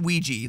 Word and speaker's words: Ouija: I pronounce it Ouija, as in creepy Luigi.